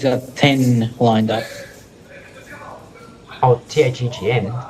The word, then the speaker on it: thegn: THEGN being an old spelling of THANE. Yeah. It is not pronounced Thegan, unless you really want it to be.